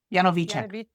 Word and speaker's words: Janovicek: the correct pronunciation of NY's last name. Yanovich, there she is.